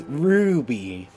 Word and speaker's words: Ruby: my name right it's Ruby wait is she a wolf it's probably like howling right R what you got to say it with the r like a a a